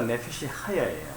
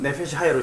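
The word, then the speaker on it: נפש חיה: 그 생물이라는 단어가 네펫이 하야예요. 그 제가 말씀드렸죠. 네펫이 하야라고 되어 있는, 그러니까 이거 또 독일어식으로 말하면 이히 할 때 그 CH 발음 있잖아요. 그거 발음이 발음 나는 거죠.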